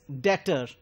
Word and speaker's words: debtor: that the pronunciation is debtor. B is silent over here.